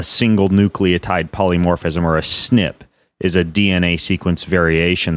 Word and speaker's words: SNP: you listening in a snip all that stands for single nucleotide polymorphism or SNP and you you pronounce it snip you're gonna see it if you see a written as SNP and your DNA is